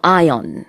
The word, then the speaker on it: ion: 분해되는 그런 현상을 말하잖아요 근데 이혼의 영어 발음은 아이언 입니다 이 올 아니고요 아이온 그래서 이온 층은 아니면